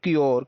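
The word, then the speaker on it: cure: देखने का प्रयास करेंगे यू आर ई अगर जुड़ा है तो हम लोग क्या करते हैं, ये जिसमें जुड़ा है इससे जो पहले वाला अक्षर होगा उसको हम लोग आधा अक्षर प्लस क्या कर देंगे, योर जोड़ देंगे। जैसे सी में जुड़ा तो सी का मतलब का, इसको आधा का पढ़ेंगे, इसको पढ़ेंगे क्योर।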